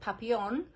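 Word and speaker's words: Papillon: they probably pronounce it papion they probably don't pronounce the L's in it but this little one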